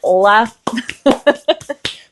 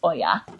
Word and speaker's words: olla: hole for my next Oya Oya is spelled o l l a and so I keep wanting to call it ola but it's not Ola it's Oya okay so now I'll get